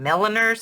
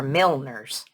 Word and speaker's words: milliner: these are Milner needles I don't know if he's calling milliners or milners I hear it pronounced both ways these have number three